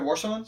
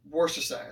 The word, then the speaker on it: Worcestershire: Have you ever tried Warsons? Salt and pepper. Warsons sauce? Worcestershire. Yeah. Worcestershire.